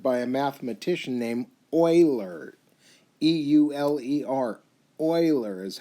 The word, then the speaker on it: Euler: actually was discovered by a mathematician named euler e-u-l-e-r euler is how it's pronounced so he thought highly of himself and